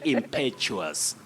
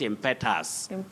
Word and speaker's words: impetuous: Nancy oh ma sale impetuous impetuous not impetus impetuous that is when